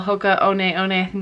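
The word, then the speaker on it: Hoka One One: them quite frequently and hoka shoes as well hoka onee one that's how you pronounce it um they'll sell really great and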